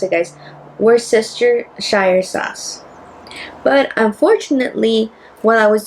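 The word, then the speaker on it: Worcestershire sauce: How do How do we pronounce it, guys? were sister Shire sauce.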